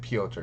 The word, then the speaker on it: Piotr: Yeah, it's spelled Peter, but you say Piotr.